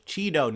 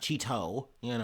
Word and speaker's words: Chido: It's Chido, not Chido, not Cheeto.